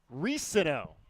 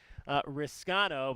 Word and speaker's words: Risano: It is actually Risano, we found out this week, not Riscano, but he had the